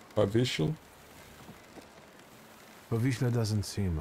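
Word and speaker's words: Powiśle: W's are pronounced like B's. Povichle.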